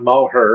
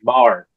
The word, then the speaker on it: Moher: till going to Ireland to know how to pronounce it. And it's not Moher, it's Moher. Yeah, the Cliffs of Moher.